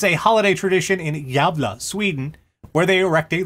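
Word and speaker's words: Gävle: So, as you may be aware, the gavel goat is a holiday tradition in Gavla, Sweden. YouTube says it's pronounced Javla. Javla? Anyway. Yes. Well, it's a holiday tradition in Javla, Sweden, where they erect a large straw goat.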